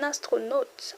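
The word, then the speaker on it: astronaute: A U sounds O. Astronaut. An astronaut.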